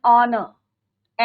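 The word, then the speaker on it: honour: प्रेसीडेड बाय the determiner N an honest man एन ऑनर एन आ राट तो यहां पर क्या है आपका ए र साइलेंट एच क्या है आपका साइलेंट यहां क्या लिखेंगे हम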